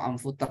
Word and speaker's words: amfoter: Namanya amfoter atau amfuter cara bacanya.